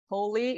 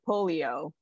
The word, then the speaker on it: polio: in this term so it's actually not holy it's actually polio so polio is the